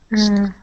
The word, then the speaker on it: whistling: Whistling. Good, yeah, so that T is going to be silent, whistling, okay?